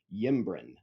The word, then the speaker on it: Ymbren: ember comes from an Anglo-Saxon word, yimbren, which is spelled Ymbren, yimbren.